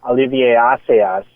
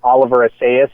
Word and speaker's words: Olivier Assayas: work in The Clouds of Sils Maria, which Olivier Assayas, Great who film, normally my I would man. call Oliver Assayas, but that is how his name is pronounced, so I will pronounce it like that.